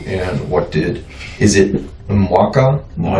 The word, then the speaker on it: Mwaka: Is it Mwaka?